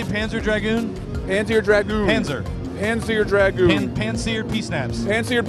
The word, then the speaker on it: Panzer Dragoon: Panzer Dragoon.